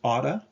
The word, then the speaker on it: ought to: heard ought to um it's pronounced otta uh when people are speaking but the word should